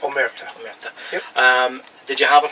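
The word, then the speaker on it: Omertà: Is that how it's pronounced? Omerta.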